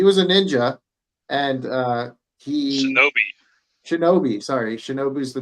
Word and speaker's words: shinobi: And Tengen's a much funnier guy because he was a shinobu, or is that how you say it? He was a ninja, and he Shinobi.